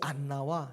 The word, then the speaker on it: 안나: 이 한나라는 히브리어를 헬라어 음역대로 발음하면 안나예요. 그 뜻은 은혜, 은총이라는 뜻이에요. 이 안나와 시므온이 하나님의 말씀이 없어서